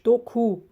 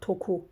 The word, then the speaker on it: doku: Doku, right? Tug, dok, tuku, dokumak, to weave. So it is doku, not toku, right? But it can be toku because in the Turkic languages, d is pronounced like t.